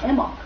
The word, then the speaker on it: Imbolc: The name of this holiday, Imbolc, which is spelled Imbolc, but the B is silent, literally means in the belly.